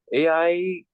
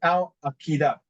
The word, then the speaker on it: Al-Qaeda: AI No, it's killed not. It's not called AI. It pronounced Al Qaeda.